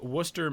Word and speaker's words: Worcester: The, uh, Worcester Baseball Club moving from Pucket, Rhode Island to Worcester, Massachusetts, which is a, uh, city name that is spelled with a whole bunch of, uh, unnecessary letters.